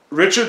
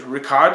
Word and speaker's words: Richard: I bought on CD true richard strauss or I think it's Ricard Strauss is how you say in German I'd have I'm heaven